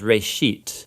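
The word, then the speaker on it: ראשית: Genesis comes from a Hebrew word. It's pronounced reshit, and it just means beginning.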